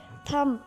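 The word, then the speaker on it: thumb: थम, बी is silent.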